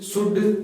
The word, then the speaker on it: should: ये जो कुड है इसमें ध्यान रखना है एल साइलेंट रहता है। कुड, शुड, वुड, कभी भी इसको कुल्ड, शुल्ड, वुल्ड ऐसे मत प्रोनाउंस करना।